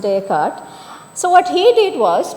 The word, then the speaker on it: Descartes: He's French philosopher called Descartes or Descartes but it's pronounced Descartes.